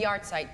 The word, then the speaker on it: yahrzeit: It's a yahrzeit candle.